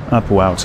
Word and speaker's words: Upuaut: Upuaut. Okay, that's how you pronounce that.